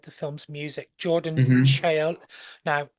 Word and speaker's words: Chiola: Chiola. Now, how am I pronouncing this? Chiola? Kyle, Chiola. Kyle, yep.